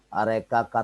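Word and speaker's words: Areca: DJ Pinang Oh ya are Kaka Teguh iya hahaha Hai itu bacanya Areka tulisannya tulisannya bukan itu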